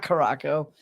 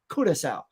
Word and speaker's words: Curaçao: and got this in Curaçao, which I read as, you know, Caraco. It is not Caraco, as I was quickly corrected by the tour guide. She goes, Curaçao.